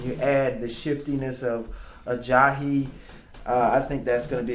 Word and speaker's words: Ajayi: How do you say his name? How did you say it a couple weeks ago? A JJ? A JJ. That is what I said last week. It's Ajayi. Ajayi. Okay.